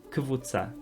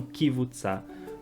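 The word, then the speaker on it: קבוצה: Outro exemplo, kivutza, ou kivutza. A pronúncia correta é k, é um k mudo, então kvutza, kvutza, e não kivutza, como as pessoas acrescentam esse i.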